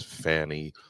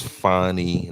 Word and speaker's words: Fani: Willis now I know you've heard her name pronounced as Fanny Willis and that's uh that's not the lady's